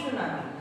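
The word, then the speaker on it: tsunami: अब क्या होता है टी सुनामी। टी सुनामी, यहाँ पर टी साइलेंट होता है, इसको हम सिर्फ सुनामी बोलते हैं।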